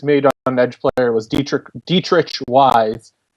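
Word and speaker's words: Deatrich Wise: Another pick the Patriots made on edge player was Dietrich Wise. That's how he's telling everyone to pronounce it now.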